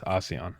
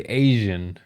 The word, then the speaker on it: ASEAN: finish his thoughts but that's how it is asean okay because I I wanted to say Asian I knew I know it's spelled differently but that's kind of the way I would read it anyway if it was English um so it's asean is going I really